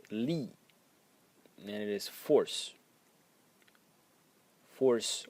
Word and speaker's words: 力: And the second element in this character is this one which is pronounced Lee and it is force force or strength.